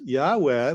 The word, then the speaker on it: Yahweh: However, it turns out that that's a problem because Yahweh, which is the way they pronounce the ancient Israelites pronounced the name of their God in modern Jewish tradition, that's taboo.